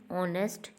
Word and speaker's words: honest: Some words have initial consonants which are not pronounced. कुछ words ऐसे होते हैं जिनके इनिशियल कॉन्सोनेंट ऐसे होते हैं जिनको प्रोनाउंस नहीं किया जाता, म्यूट होते हैं. लाइक एच इन ऑनेस्ट, जैसा कि ऑनेस्ट का